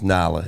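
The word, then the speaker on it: Nyla: So, you just got, and her name's New York, L.A., but her real name is Nala, N-Y-L-A. But it's New York, L.A. Nada. That's how you spell it, N-Y-L-A.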